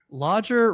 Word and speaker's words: Lodger: Lodger rhymes with Dodger.